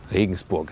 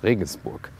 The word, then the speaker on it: Regensburg: Regensburg is the German pronunciation. Listen and repeat, Regensburg.